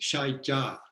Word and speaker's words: Saicab: It's pronounced Shai Ja.